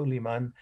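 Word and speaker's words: Suleyman: write it just phonetic way s-u-l-e-y-m-a and so liman was a very powerful sultan of the turkish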